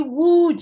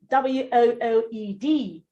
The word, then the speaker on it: wooed: He wooed you. W-O-O-E-D. Wooed. Well done, Madam Nkiru. That's it. Wooed. The other word is pronounced would.